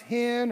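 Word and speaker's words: חן: word it's it's c-h-e-n-e it's either pronounced hen or or can it's however you if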